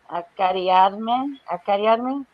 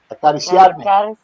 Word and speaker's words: Acariciarme: Can you pronounce that? Where? Acariarme. Acariciarme.